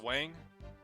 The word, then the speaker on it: Huang: Yeah, it's pronounced Wang. Really? Because I look at that and I just see Huang.